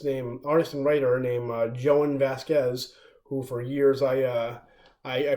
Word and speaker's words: Jhonen Vasquez: by an artist named artist and writer named Joanne Vasquez who for years I I pronounced Johan Vasquez but it's called joining the homicidal maniac it's